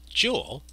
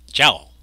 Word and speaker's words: joule: exactly how to pronounce it the standard accepted pronunciation is jewel however like the newton it is a person's name and there's some evidence that the person called himself james prescott jowl for example suppose it requires 50 newtons of